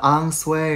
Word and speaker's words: ensuite: 第三种就是我们的 ensuite，这是个法语词汇，